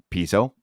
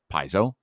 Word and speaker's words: piezo: You can sound like you have, well, however you prefer to pronounce it, piezo, piezo, however you feel you should pronounce that.